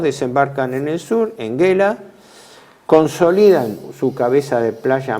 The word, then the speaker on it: Gela: No es Gela se escribe, sería Gela en italiano. En italiano es Gela.